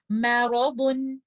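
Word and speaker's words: مَرَضٌ: So we have to make it heavy. Back of the tongue is up. So we will recite this word like this. Maradun, maradun.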